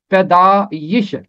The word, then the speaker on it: پیدائش: ہے، مختصر صورت ہے۔ بائبل میں یہ کے ساتھ ہے اور یہ کے نیچے زیر ہونا چاہیے، تو یہ اس کا تلفظ ہوگا پیدائش۔ اسی طرح اور بھی